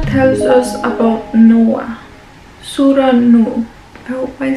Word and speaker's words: Nuh: us about noah surah nu i hope i said it right no that is the arabic way of saying noah just to make sure